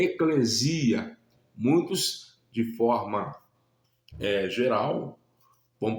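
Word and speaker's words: ἐκκλησία: Ou seja, aqueles que o receberam, nós chamamos de igreja, que no grego a pronúncia correta é eclesia. Muitos, de forma geral, vão pronunciar a expressão eclésia, mas a pronúncia correta é eclesia e significa os chamados para fora.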